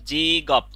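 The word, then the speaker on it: 직업: প্রথমে দেখেন উপরে লেখা আছে জি গপ। এই যে গিয়কটাই এখানে চলে আসবে, এসে গ উচ্চারণ হবে।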